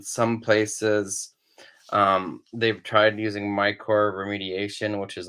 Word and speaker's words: mycorrhiza: But hopefully those mycorrhiza, how do you say it, Cedar?